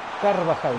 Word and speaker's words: Carvajal: Acabas de tener una mala pronunciación. Es Carvajal, no Carvajal.